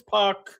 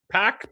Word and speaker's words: PAC: Here comes Pac pack. Pac. I think it's Pack. I always say P. I should say Pack because Pack run rhymes with Jacked, which is what he is.